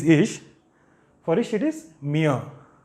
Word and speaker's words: mir: For ich it is mir. Okay, mir. It is not mir. The letter R is silent when it comes in the end of a word.